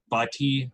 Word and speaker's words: butty: It's butty, like it's a buddy, not chip. buddy. It's a chip not buddy. Like, hey, bud.